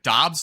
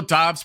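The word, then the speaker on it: Doubs: Why can't Romeo Dobbs pronounce his last name like Dubes? It would just sound so much cooler if he did that.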